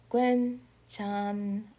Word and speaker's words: 괜찮아요: So, we also have this word, 괜찮아요. 괜찮아요. 괜찮아요. First syllable block, 괸, next, 찬, next, next, 요. 괜찮아요.